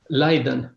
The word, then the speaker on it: Leiden: Leiden.